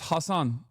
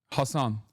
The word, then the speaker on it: Hasan: But that's not how your name is pronounced. It's Hasan. Hasan. But it doesn't matter. I don't. Like, I, I, it, it, it, I'm telling you right now, it does not matter to me at all. This, it is, Hasan is, uh, usually, uh, like, I think it's like an Arabic pronunciation, right?